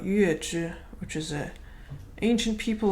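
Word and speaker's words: 月氏: Now, zhi is it's pronounced zhi when talking about Yuezhi, which is an ancient people of Central Asia who lived during the Han Dynasty.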